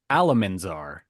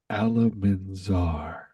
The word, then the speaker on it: Alamanzar: It's okay, Oliver, because I said it wrong. It was actually Alamanzar. Alamanzar.